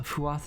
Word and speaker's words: Fuath: Uh, Fuath is pronounced FUA.